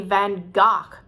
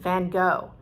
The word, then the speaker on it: van Gogh: icons vincent van gogh now again these people say you're pronouncing it wrong it should be van gaac or if you really want to sound dutch say then but nobody says that we are fine with vincent van gogh and i think that's